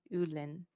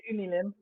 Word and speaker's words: Unilin: from the company in Ulin. Is that right? Yes. Ulu. How do you say it? You say Unilin.